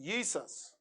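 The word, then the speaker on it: IESVS: yeah yeah because those those v's are actually u sounds yeah that's old english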